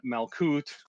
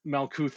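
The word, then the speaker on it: Malkuth: you're winding down here in Malcoot. Malc you can pronounce it either way. Uh and Malcou is us here on the planet Earth.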